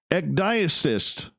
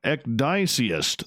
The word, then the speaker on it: ecdysiast: Ecdyacist. Oh, I totally butchered that. Oh, Ecdysiast.